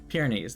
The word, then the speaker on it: Pyrenees: How do you pronounce that? Hold on. Pyrenees. Pyrenees. Okay, I was right the first time. Pyrenees.